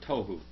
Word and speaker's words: tohu: See that tohu there? That's it, tohu. This word right here. That's the word right there, tohu. Tohu. That's how you say it, tohu.